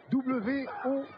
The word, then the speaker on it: World: W-O-R-L-D. Eh bien, pour le prononcer, pensez à W-E-U-R-L-D. World. Voilà, vous l'avez.